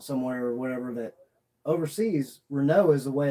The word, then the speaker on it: Renault: something came out somewhere or whatever that overseas Renault is the way it's pronounced and we were pronouncing it wrong the